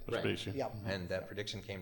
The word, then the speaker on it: Vespasian: Yeah, he predicted that Vespian, is that right? Yeah. Would become the emperor. You're right. Vespasian.